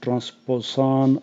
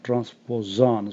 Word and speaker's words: transposon: Transposable elements, also known as transposon or transposon. So you can pronounce this S in two ways. Simple S or like Z, transposon. Also known as jumping genes.